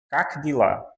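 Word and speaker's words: как дела: E aí nós pronunciamos Kakdila. Kakdila. Ou seja, esse IE nessa posição aqui, nessa palavra, ele não aparece exatamente como IE, ele vai como um IE.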